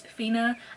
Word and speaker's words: Finna: Okay, so the first book I have is Fina. I used to pronounce it as Finna, but that's because I'm black, but it's actually Fina.